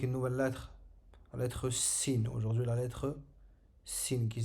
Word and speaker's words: س: Donc le sin, le point de sortie de la lettre sin, c'est comme le S en français. On prononce exactement de la même manière.